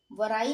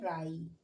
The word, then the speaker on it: wry: यहाँ भी W silent है। और WRY, इसे हम क्या पढ़ेंगे? वराई नहीं पढ़ेंगे, अब हम इसे पढ़ेंगे राई।